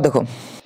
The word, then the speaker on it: the: letter আছে এফ এফ মানে consonant consonant মানে উচ্চারণ হবে দা তাহলে দা ফাস্ট পিপল আবার দেখো ই এন ডি এন্ড of park street তার